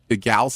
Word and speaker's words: Gal: little discussion, a small, tiny, how do you pronounce the gal's name from Wonder Woman?